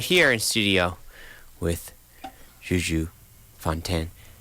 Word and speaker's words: Fontaine: And I'm joined live right here in studio with JuJu Fontaine. How French do you like to pronounce it?